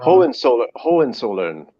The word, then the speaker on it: Hohenzollern: you Oh pronounce yeah. it? Sorry, I keep saying it wrong. Hohenzollern.